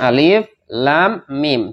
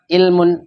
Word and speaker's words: Alif Lam Mim: Alif Lam Mim hurufnya Alif Lam Mim dibaca Alif Lam Mim Bukan dibaca ilmun Bukan dibaca alamun Bukan dibaca ya ulumun